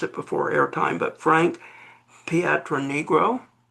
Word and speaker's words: Pietronigro: I I meant to have you uh make sure I could pronounce it before airtime, but Frank Patron Negro.